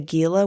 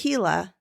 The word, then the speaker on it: Gila: A few years ago, I went on a solo motorcycle trip to the Gila Wilderness. Oh, pronounced Gila.